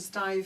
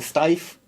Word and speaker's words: Steiff: And it started with this one bear, and the Steiff, is that the pronunciation? Steiff, and the Steiff company now literally sends bears.